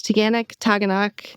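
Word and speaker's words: Taughannock: I love the pronunciation of Taganok. Yes. Love it. It's Taganok.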